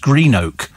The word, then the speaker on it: Greenock: Apparently, Blacks of Greenock is pronounced Greenock, says David Keown at Loch Lomond.